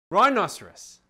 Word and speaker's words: rhinoceros: just r i n the h is silent and rudiger used to